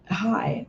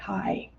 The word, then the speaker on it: Ai: in locating AI Hebrew the Hebrew is is pronounced hi the h a a y High and it means the